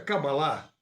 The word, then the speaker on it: Kabbalah: A pronúncia Kabbalah, com a última sílaba tônica, vem da sua origem hebraica, que também tem o acento tônico na última sílaba.